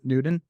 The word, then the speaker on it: Newtown: It's basically spelled Newtown, but you pronounce it Newton.